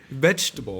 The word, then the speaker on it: vegetable: It's a G, a soft G. I don't know. It's I'm J, sorry. like a J.